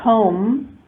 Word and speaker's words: comb: In the word comb, there is no B at the end.